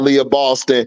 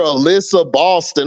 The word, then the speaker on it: Aliyah Boston: as hell for that leyah Boston and then skip baseless he mispronounced her name he called her Alyssa Boston I'm like who the